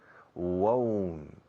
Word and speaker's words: won't: La contracción del negativo del futuro, no iré, no lo haré, no veré, I won't, won't. Recordad la forma gallega, ourense, won't, won't, won't.